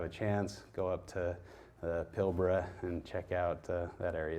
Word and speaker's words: Pilbara: They're found in the Pilbara. You got to say it like an Australian. I get made fun of by my friends over there saying Pilbara. So Pilbara in Western Australia.